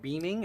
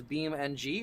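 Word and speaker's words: BeamNG: Oh, it's not beaming. It's Beam NG, or did you misspell it?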